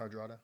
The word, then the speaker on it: Hardrada: And so if you look at Harold and Hadrana, is it Hadrana? Is that how you pronounce it? Hardrada.